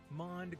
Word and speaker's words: MOND: of space number one mond gravity dark matter may not be matter at all it could just be an unobserved behavior of gravity modified newtonian dynamics or m-o-n-d pronounced mon suggests that galaxies are